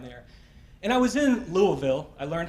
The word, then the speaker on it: Louisville: And I was in Louisville.